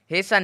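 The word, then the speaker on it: hasten: तो यहां पे है सन में टी का कोई भी उच्चारण नहीं निकाला है हिंस्टेशन नहीं निकाला है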